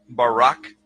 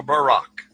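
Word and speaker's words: ברק: So lightning or a flash of light in Hebrew is pronounced barak or barak.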